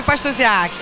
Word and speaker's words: Pastusiak: seu nome eu sou Jaqueline o seu pastorziar é minha xará eu sou Boechat